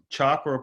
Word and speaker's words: chakra: The Sanskrit word chakra, pronounced chakra, means wheel, which refers to the spinning energy in each of the 7 chakras.